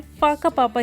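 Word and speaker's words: Whakapapa: हम जा रहे हैं फाकापापा ski valley. First time may बी आप इसे गलत प्रोनाउंस कर सकते हैं क्योंकि माओरी लैंग्वेज में WH को व नहीं फ प्रोनाउंस करते हैं।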